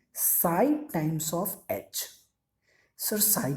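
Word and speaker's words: psi: अरे ये साइन को हम लोग साई बोलते हैं, कंफ्यूज मत होना. This is द साई. कुछ लोग इसको चाय भी बोलते हैं, चाय. तो इतना अपना प्रॉब्लम नहीं लेने का. प्रोनाउंसिएशन का लोगों का रहता है. कोई चाय बोलता है तो कोई साय बोलता है.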